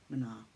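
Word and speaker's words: mná: The word Mna means woman in Gaelic, the beautiful poetic language of this island, and pronounced Mna.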